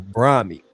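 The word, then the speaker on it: Brahmi: Often combined with goto cola or brahmy. Go to cola is it's spelled go t u k o l a or bra.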